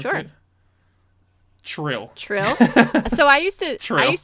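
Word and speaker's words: Trylle: Can I totally change your perception on that word and tell you how they pronounce Sure. it? Trill. Trill? So I used to Trill. just say, like, in my head, Tiel, but Trill.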